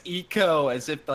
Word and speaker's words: Ico: how much I got for pronouncing it ICO originally everybody's like oh it's eco as if that's the one thing they should